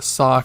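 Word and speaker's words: さ: looks like a U turned sideways and just pronounced like question mark. Ooh, good job. Ooh. Back to the sa column.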